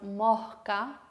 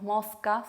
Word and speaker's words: mosca: Otros ejemplos son mosca, no decimos mosca, sino mosca. Pasto, no decimos pasto, sino pasto. O fiesta, no decimos fiesta, decimos fiesta, ¿sí? Un poquito más aspirado.